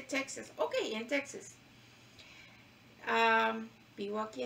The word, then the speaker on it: Texas: tejas y me dice no se dice tejas se dice texas ok en texas vivo